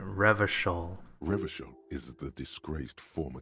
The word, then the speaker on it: Revachol: That's how you pronounce it, Revachol.